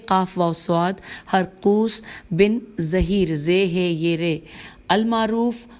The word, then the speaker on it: ظہیر: خوارج کے رئیس و سردار ہرقوس بن ظہیر، ہجے کر لیتے ہیں نام کی، ہیر قاف واو سواد، ہرقوس بن ظہیر، زے ہے یہ رے، المعروف ذوالشدیہ، زال واو